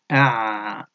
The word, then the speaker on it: أعشق: أعشق عينيك أعشق عينيك ألف avec حمزة avec فتحة on dit أ العين avec سكون ع الشين avec فتحة ش ش ش القاف avec ضمة on dit قو قو قو donc أعشق أعشق عين avec فتحة ع